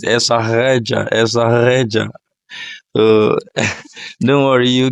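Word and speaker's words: Estarreja: Okay, it is Estareja. Estareja. That's it. So, and I think the Portuguese will pronounce it Estareja.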